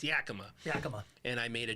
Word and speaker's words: Yakima: So, after a series of murders in his hometown of Yakima, Washington, Joseph goes to rehab.